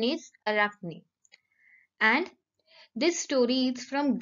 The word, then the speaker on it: Arachne: story unit 6 the story of arachne children arakhni is a great name its spelling is a r a c h n e but its pronunciation is arachni and this story is from greek mythology mythology